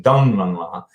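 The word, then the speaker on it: Taglang La: Tenglang La, and they pronounce it in that region, Donglang La is the second peak.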